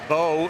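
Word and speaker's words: Beaux: Doug Bo is spelled B.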